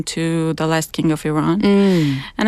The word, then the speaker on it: Iran: Iran, yeah.